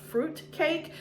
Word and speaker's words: freutcake: It's from, I think it's pronounced fruit cake, but it's spelled F-R-E-U-T.